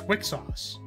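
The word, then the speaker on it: Wixoss: thinking about the systems did you just say Wick sauce by pronouncing the X yeah it's Wicks sauce don't you know Wick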